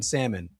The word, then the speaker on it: salmon: might as well just start pronouncing the L in salmon because nothing matters, right?